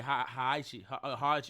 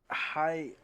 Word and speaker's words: Heihachi: It's probably starting to say Haichi. Oh, you got me saying it wrong. Say it again. It's Heihachi. Hayachi.